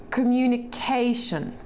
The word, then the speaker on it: communication: If we were to look up this word in a dictionary, we would see that the little indicator mark is before the CA sound. Therefore, the CA is emphasized. Communication.